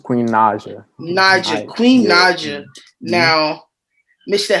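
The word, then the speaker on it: Queen Naija: y'all know queen i always say her name ronaja ninja it's queen naja niger queen naja now mr jeffe two-time platinum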